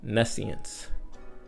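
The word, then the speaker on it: nescience: The word of the day for today is Nessian. Nessian is spelled N E S C I E N C E.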